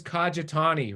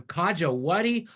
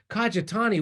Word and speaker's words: Kajitani: Believe me, my last name is Kajitani, right? I can't tell you how many teachers and coaches I've had who've gone, Kaja, whatty?